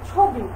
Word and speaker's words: ছবি: লিখো, তুমি লিখতে পারবে শব্দের শুরুতে যদি অ থাকে এবং অ এর পরে যদি রস্যই রস্য বা দীর্ঘকার থাকে, তবে সেই অ এর উচ্চারণ অ এর মতো না হয়ে ও এর মতো হয়।